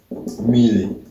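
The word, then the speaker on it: mbili: Number 2, Mili. And by the way, you see the B is pronounced quite lightly, so it's always like just Mili. Okay?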